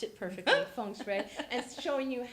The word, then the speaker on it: Feng Shui: Pronounced it perfectly. Feng Shui.